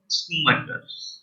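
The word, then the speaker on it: Schumacher: Michael स्कूमैकर। ठीक है, स्कूमैकर्स भी बोल सकते हो आप, स्कूमैकर्स बोलने की जरूरत नहीं है, स्कूमैकर्स भी बोल सकते हैं, साइलेंट होता है, ठीक है, जैसे स्कूमैकर हो सकता है।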